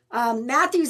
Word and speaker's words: Matthews: Matthews, that's pretty interesting because Ashley was in here and she told me how her last name is pronounced and she said it's pronounced like Matthew.